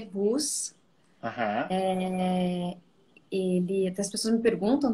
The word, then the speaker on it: Buss: último nome se lê Bus.